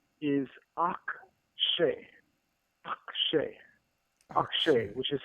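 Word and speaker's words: אַקְשֶׁה: For instance, the verb in Exodus 7, verse 3 is akshay, akshay, akshay, which is spelled aleph with a patah underneath it.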